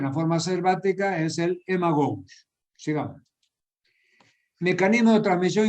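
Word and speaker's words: Haemagogus: Fíjense que se escribe con H y AE. Haemococcus se escribe, pero se pronuncia Haemococcus.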